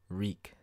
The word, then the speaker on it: Reek: we'll be painting reek reek it rhymes with bleak so for the various